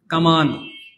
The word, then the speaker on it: কামান: কামান, হ্যাঁ কামান। এই যে কামান, যদিও এই শব্দটা উচ্চারণ মনে হয় ক্যানন, কিন্তু ক্যানন না, শব্দটা উচ্চারণ হবে কামান।